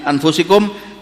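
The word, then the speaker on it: أَنفُسِكُمْ: Laqad ja'akum rasulun min anfusikum, telah datang kepada kalian rasul dari kalanganmu sendiri. Ada yang membacanya min anfasikum.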